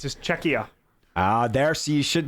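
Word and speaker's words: Czechia: a great spot yeah this even the Canada chechia that's say it right no no what you keep adding an N there's no n it's just cheia ah there so you should that you guys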